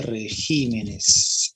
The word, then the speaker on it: regímenes: en plural de régimen como se pronunciaría el plural de régimen pérez jiménez claro que sí ella es todo un éxito no es una por la castellana de plural sería regímenes ahí está de acuerdo